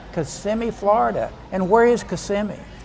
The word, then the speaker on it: Kissimmee: everybody's from Florida and it's Kissimmee can you lean over and kiss me okay it's not kissing me oh me oh it's not kissing me no oh it's how do you say that again kissing me Kissimmee Florida and where is